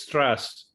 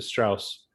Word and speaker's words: Strass: No, it's Strass, like street, as opposed to Strauss.